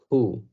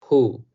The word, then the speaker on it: who: en español, sino que la W incluso llega a ser muda, o se puede interpretar como que la W y la H suenan como pero esta palabra se pronuncia who, who, nada más soplando un